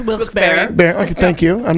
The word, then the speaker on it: Wilkes-Barre: Pronounced Wilkes-Barre.